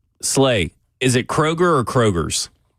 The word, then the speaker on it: Kroger: So, you go K Rogers. Yeah. Yeah. Yeah. It's Kroger's. But there's an S on the absolutely. Listen. This so many words out there that have the silent letter in it. And this is one that don't even it's it's um it's it's an imaginary letter on there. You know what I mean?